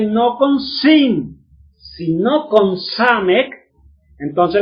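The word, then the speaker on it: סמך: con sin, sino con Samek, entonces la Samek es otra S, y usted dice Samek, men final, ¿y cómo lee esa palabra?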